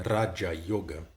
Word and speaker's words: Raja Yoga: Raja Yoga, né? O R sempre pronunciado dessa forma mais vibrante, né?